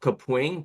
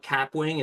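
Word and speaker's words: Kapwing: So I use something called Caping. K A P W I N G. I used to call it capwing and then I heard them pronounce it and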